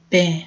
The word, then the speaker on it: pain: Não pronuncia o F não. E, porque tem o ET, é E. E mange du pain. Pain, não é pão, é pain.